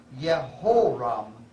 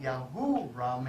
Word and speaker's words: Yehoram: And Jehoram, or in Hebrew, Yehoram ben Akav, 12 years. You'll notice there, it was not Yahuram, it was Yehoram, because northern Israel had an Aramaic pronunciation of Semitic, and Judah had a Canaanitic pronunciation.